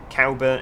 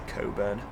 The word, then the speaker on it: Cowburn: Cowburn. It's spelt Cowburn, C-O-W-B-U-R-N, but some people say Coburn. But they're wrong, because it clearly says cow, doesn't it?